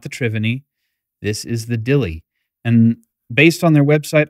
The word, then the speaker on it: Dilli: triveny this is the Dilly and based on their website I believe that is a uh a different pronunciation of the word Deli as in New Deli but um little little